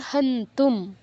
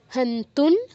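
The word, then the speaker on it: হন্তুং: বয়ম বয়ম অথবা তারপর হান্তুম হান্তুন অনুস্বার পর তা থা ধ ন এর একটা আছে মানে ধ আছে তো আমরা অনুস্বারের জায়গায় নয় হসন্ত উচ্চারণ করব হান্তুন ধারতা রাষ্ট্রান ধারত ধা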